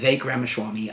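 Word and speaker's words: Ramaswamy: humored about it uh V ramaswami I think is how it's pronounced he is the man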